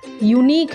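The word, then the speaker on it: unique: जा रहा है, यूनिक, इसका प्रोनाउंसिएशन यूनिक है, य से शुरू हो रहा है इसका साउंड, य व्यंजन है तो क्या लिखेंगे, अ, अ यूनिक, मतलब इसकी स्पेलिंग से हमें मतलब नहीं है, यू जो है वॉवेल तो है पर जो साउंड आ रही है ना वो य का आ रहा है, इसीलिए अ, अ यूनिक।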